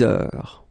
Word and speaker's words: heure: Il est 6 heures. All right, so heure, you write it like that. Remember, H is not pronounced, okay?